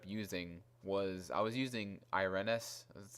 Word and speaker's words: Irenes: And there's like other characters like basically who I ended up using was, I was using Irenes. That's how you pronounce her name.